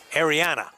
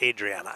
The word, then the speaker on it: Ariana: Ariana, not Adriana, Ariana.